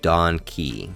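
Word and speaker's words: Don Kee: We learn that the planet is being ruled by a corrupt king named Donkey Ki. Yes, pronounced like donkey, which it took me far too long to realize, who taxes his people into becoming con artists just to survive.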